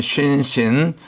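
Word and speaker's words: שׂ: 우리가 겸손해야 되지요 그다음에 신신 요거는 한 글자인데 점이 오른쪽 가면 쉰 왼쪽으로 옮겨가면 신 발음상의 강력이 좀 차이가 나고 이빨 모양이니까 영적으로는 재와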